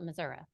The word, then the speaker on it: Missouri: and then I realized you pronounce the state differently in different parts of the state. So I don't want to get it wrong. How Missouri. I say Missouri.